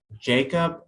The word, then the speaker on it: Jakob: Jacob, but it's spelled Jakob.